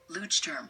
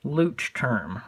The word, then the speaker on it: Leuchtturm: Let's see how Apple pronounces this company. Leuchtturm. Leuchtturm. One more time. Leuchtturm. Leuchtturm.